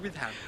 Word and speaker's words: Witham: hello my name is withm withm yes how do you spell that withm um w h i t h a m with ham Witham well thank you very